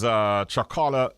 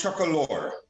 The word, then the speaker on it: Chocolore: How long, though, Carl, has Chocola chocolate been around? Well, it's pronounced Chocolore. So how is it pronounced? Chocolore. Chocolore. Yes, it's named after our daughter, Lori.